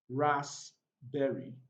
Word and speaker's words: raspberry: receipt and the two final words also have silent letter p's we have raspberry ras berry and we have cupboard cupboard so we've come